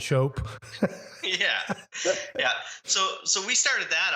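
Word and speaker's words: Shoppe: Not spelled S-H-O-P. It's S-H-O-P-P-E. That's how they spell it in Canada, right? Yeah. Process and process. Yeah, exactly. And shop and shope.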